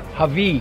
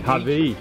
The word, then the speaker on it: Hawi: So I've just bumped into one of the locals here and he's gonna tell me the exact pronunciation of the town. What is it? It's called Hawi. Hawi. H-A-W-I, Hawi.